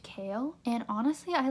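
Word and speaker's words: Chaol: but I believe you his name is pronounced Cale and honestly I like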